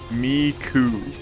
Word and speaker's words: Miku: Miku. Like cool without the L.